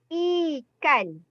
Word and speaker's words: ikan: The name is ikan. Not ikan, Not ikan. I. Okay, you have to memorize. The first week I told you the vocal I sound is I. Ikan.